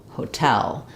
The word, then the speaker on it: hotel: sound back on um so have them say tell Hotel so that they're not overly stressing on the first syllable of of hotel with the O vowel it still is a clear vowel but I don't want hotel or hotel or any of that um I want it to sound just like the word Tell hotel um yeah so hopefully